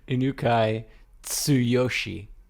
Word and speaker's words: Inukai Tsuyoshi: accomplices shot prime minister uh unake yet yoshi right no inukai tsuyoshi is how you'd pronounce that expecting me to be